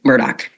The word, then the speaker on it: Murdaugh: things that's consistent is typically he says Alec Murdoch I'm I'm just gonna